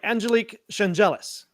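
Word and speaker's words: Angelique Chengelis: This is from the Detroit News from Angelique Changelis, which I have been assured is how you properly pronounce her name.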